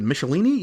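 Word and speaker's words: Michelinie: new writer in the form of uh David michelini you say is how we say that's how I pronounce it yes I believe that is the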